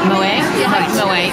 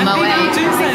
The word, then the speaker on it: Moët: You know, with being French, that the T was silent. So you Moet or Moet. Yeah.